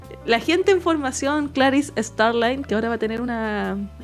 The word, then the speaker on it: Starling: tiene un tiene como un cas bacano, o sea, Claris Star, ay, no se dice Starline, no, o Starlin. Starlin. Starlin.